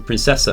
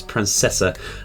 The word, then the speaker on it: Princesa: for quite surprises um Princesa over here just realizing we've been pronouncing that wrong is Princessa um with the level